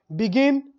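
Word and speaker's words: begun: बिगिन, बिगेन, बिगन, बगन, इसको actually में pronunciation करते हैं बगन।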